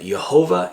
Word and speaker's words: Jehovah: I personally pronounce them Jehovah and Yeshua.